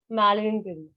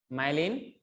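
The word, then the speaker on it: melanin: मैलेनिन। माइलिन, मैलेनिन। मेलानिन। सब किसी का प्रोनाउंसिएशन बदल मत दो ना, ताकि समझने वाला तो समझ वो ले। मैलेनिन ही होता है। मेलानिन होता है, एमई होता है।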